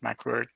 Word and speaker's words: MCWRT: county to establish the Mendocino County Water Resources Team, MCWRT, or as we pronounce it, McWord, in our team.